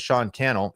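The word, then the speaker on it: Sean Cannell: My name is Sean Kel. It rhymes with YouTube channel.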